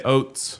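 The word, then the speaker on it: Ouzts: Tough to pronounce. O U Zts. Yeah, I would just say oats.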